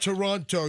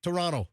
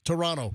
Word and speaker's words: Toronto: Whenever I say Toronto, Canadians email me, it's not Toronto. You don't you don't over pronounce the T at the end of Toronto. It's Toronto. Toronto.